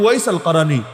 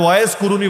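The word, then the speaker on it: أويس القرني: এমনকি ওয়াইস আল কারানি নাম শোনেন নাই? যারা আপনার ওয়াইস কুরুনি বলেন আর কি।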